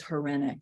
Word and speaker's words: Hryniuk: your listeners I mean my last name is horenic and I'll spell it and it's h-r-y n i u k